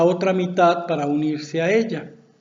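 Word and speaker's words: אל: las fuerzas y curiosamente la palabra hebrea que traducen como dios en la biblia se pronuncia el y también significa fuerza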